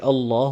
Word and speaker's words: Allah: first time is that when the word a law has a zebra or fish meaning a Fatah or a llama before it it will be pronounced emphatic or a full mouth but if it has a zero or a customer before it then it will be pronounced empty mouth as you've seen in